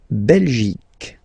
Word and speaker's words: Belgique: La Belgique, okay? Remember Q-U-E here, you will get only the sound k, okay? Belgique, Belgique. So it's not Belgique, not at all, okay? Because it's only the k. Belgique, okay?